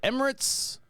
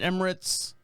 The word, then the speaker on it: Emirates: record label out in the emerald is it Emirates how do you pronounce that place that's out there United Emirates yeah the UAE the United Arab Emirates yeah